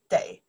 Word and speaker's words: 得: Day, before verb, pronounced day.